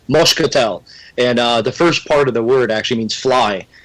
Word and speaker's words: moscatel: I think my grandfather actually used to use, because he would pronounce it, with a Portuguese accent, it's moscatel.